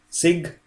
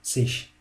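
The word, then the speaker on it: -zig: The part sig, guys, is pronounced in two ways in different areas of German. Like in North German, it's pronounced like sig, and in other parts of German, sich.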